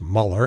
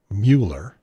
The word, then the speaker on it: Mueller: and by the way it's pronounced muller and not mueller and even though it's